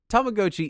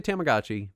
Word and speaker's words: Tamagotchi: Tomagotchi is the correct pronunciation. It so sounded so weird. Most people say Tamagotchi, but it is technically Tamagotchi.